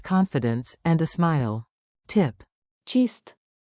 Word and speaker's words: چیست: Tip, chist rhymes with gist.